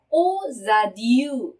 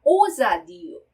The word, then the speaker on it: aux adieux: 네, 그런데 몸으로 시작되는 단어 앞에서 연결해서 발음을 할 때는 오자디우 이런 식으로 이 x의 발음이 z 발음으로 발음이 나는 현상을 바로 연음이라고 그러죠. 네, 그래서 자 오자디우 이렇게 발음을 하셔야 돼요.